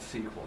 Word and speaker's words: SQL: vocally it is called sequel I can it's sequel It's fine yes SQL is pronounced sequel like I I I